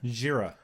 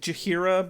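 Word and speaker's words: Jheira: Where Angel catches up with, how'd you pronounce her name again? Jira. I wrote it down, but even looking at it, I'm like, I don't know how to pronounce it. It looks that. like Jahira, but it's Jira.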